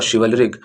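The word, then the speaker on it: chivalric: Through the चलरिक और शिवलरिक इसे शिवलरिक भी प्रोनाउंस करते हैं फ्रेंड्स शिवलरिक टाइगरर्स शिवलरिक मीन्स है पर मरदित जो बिल्कुल मरदित है।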